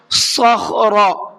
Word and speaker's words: صخر: الذین جابوا الصخر بالواد، صخر صاد کو پر کر کے پڑھیں گے اور خا کو بھی پر کر کے پڑھیں گے اور را کو بھی پر کر کے پڑھیں گے، تینوں لفظوں کو منہ بھر کے پڑھنا ہے، پر کر کے پڑھنا ہے۔ کیسے؟ صخر اس طرح سے۔ وفرعون ذی الاوتاد، وفرعون